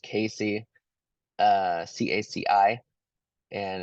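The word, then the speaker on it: CACI: is called the jury instruction so it's actually pronounced Casey uh c-a-c-i and it's during instruction 25 21A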